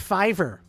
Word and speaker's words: Fiverr: Mr no all here it's pronounced Fiverr f f yeah I should send in a